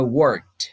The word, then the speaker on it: worked: Reparem que eu não pronuncio assim, worked, não, worked. Tá? O verbo work ele é um verbo que é meio que uma armadilha para nós brasileiros pronunciarmos, tá? Então é worked. Você quase não sente esse ed no final, mas ele está ali, né?